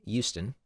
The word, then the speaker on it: Houston: I um I lived in in uh in to say it properly, Houston.